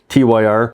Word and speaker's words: Tyr: number 14 on my ranking going back to the Tony Martin era uh this is a tear Tire I've always pronounced a tear tyr sometimes this gets lumped